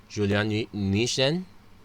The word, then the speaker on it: Julien Nuijten: Apologies for botching the pronunciation, but it's Julien Nuijten.